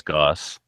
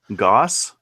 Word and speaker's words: Goss: Joe Goose wants an Infinity or It's a not Goose, Checkmate. it's Goss. Goss. Yeah, we- GOOS is Goss.